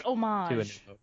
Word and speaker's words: homage: what's the word homage is it homage homage I think it's homage the H is silent but there are a